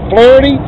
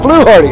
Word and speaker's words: Fluharty: Flity. Flu Hardy. All right. So, why don't you introduce yourself again, Mr. Pronounced your last name correctly for us. Hardy. Flu Hardy.